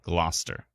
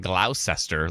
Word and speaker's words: Gloucester: not matte but glossy hail and Gloucester and not sister not glaucester like it's spelled blousester that's how it's spelled um but just so